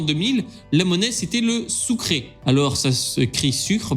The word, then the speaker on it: sucre: centrale puisque jusqu'en 2000 la monnaie c'était le souk ray alors ça ce cri sucre mais ça se prononce ou créés attention parce que je vous